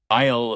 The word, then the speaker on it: aisle: The S in aisle is silent. You say it like aisle.